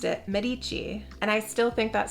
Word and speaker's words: Medici: book 15 year old Lucrezia de casimo de Medici left Florence to begin her married life with